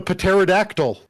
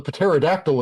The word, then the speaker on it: pterodactyl: And now I'm going to summon a pterodactyl.